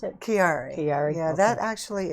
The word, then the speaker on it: Chiari: How did you pronounce it? Chiari.